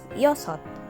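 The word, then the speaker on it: 여섯: dasa the number six in korean is pronounced as yoshot say it with me yosot next number seven is ilgo again seven is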